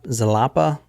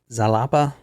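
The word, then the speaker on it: Xalapa: in verac Cruz I don't know if I'm pronounce this right zala zalapa x a l a PA a zalapa she was born in verac Cruz her name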